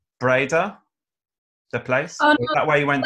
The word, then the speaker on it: Breda: she's from Holland are you from is it pronounced Breda the place where you went to school yeah